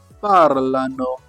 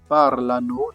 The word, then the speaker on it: parlano: What do we have here? Parlano. Parlano. Straightforward. Parlano. That is they speak. You see everything is pronounced.